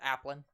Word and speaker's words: Applin: How's he pronounce that? Applin. Yeah, Applin.